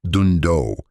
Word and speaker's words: Dhandho: The word Dhandho, pronounced "doon-doh", comes from Gujarat, India, and loosely translates to endeavors that create wealth.